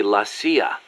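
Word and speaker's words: la CIA: So the story goes around here they say lassia instead of CIA. Huh. Um nothing strange about it. That's how it's pronounced when you read it in Spanish.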